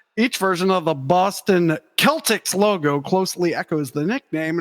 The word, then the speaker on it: Celtics: team oh the Boston Celtics why is it a soft C that's